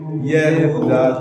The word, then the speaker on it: Yehuda: Right, in English it's Judah, but Yehuda would be a better transliteration.